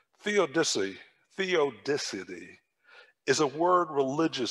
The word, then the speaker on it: theodicy: i heard the word and i struggled to pronounce this correctly but the first time i heard the word theodicity theodicy theodicity is a word religious scholars use for